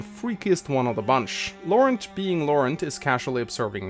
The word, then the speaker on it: Laurent: enters the comment section, I am very aware that it's pronounced Laurent. But unlike Camus, which is very easy to say, I don't even want to attempt to say this name correctly. I'm not French, so I'm saying Laurent.